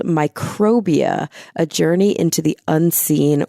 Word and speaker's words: Microbia: It's Microbia, right? That's Yes. how you would say that word? Okay. Yes. Microbia, A Journey into the Unseen World Around You.